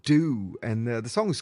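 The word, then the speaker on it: Doo: After MixOfDiz, we've got a band called Do, and the song is called Shelter Me. Now, Do is spelled D-O-O.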